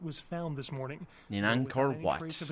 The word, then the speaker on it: Angkor: In Angkor Wat.